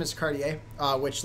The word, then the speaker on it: Cartier: Actually, funnily enough, so my last name is Cardier. Uh, which like sometimes if you pronounce it weirdly, it can sometimes sound like like if you pronounce Courier like Curier, it definitely sounds like Cardier.